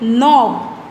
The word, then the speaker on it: knob: and last we did knob. That is K is silent and knob.